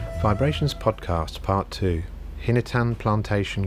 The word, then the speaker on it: VIBErations: ah vibrations podcast part two hinatan plantation coffee hi i'm gary breitman and this is my weekly podcast pronounced vibrations but spelt vibe rations vibe is a book